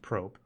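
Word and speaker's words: Prope: So he left to go form his own studio called, I believe it's pronounced Probe, and he took key members of Sonic Team with him as well.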